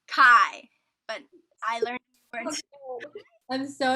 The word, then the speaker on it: Chi: i'm sorry for this is it pronounced chi it's kai but it's not that